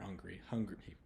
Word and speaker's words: hungry: my sort of accent, don't always pronounce the H all the way. So not in all words, but some words will, the H will kind of be silent almost.